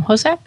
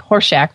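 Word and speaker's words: Hossack: Hosak? I think so. Okay, it's not like Horshack from Welcome Back, Kotter.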